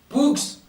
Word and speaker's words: Poux: copain, il s'appelle Clovis Pou. Poux. Il faut toujours prononcer le X à la fin de Clovis Poux, toujours.